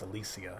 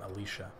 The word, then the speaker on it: Alicia: And it's actually, I think it's pronounced Alicia. She's really? Not Alicia, because she's from Sweden. Oh.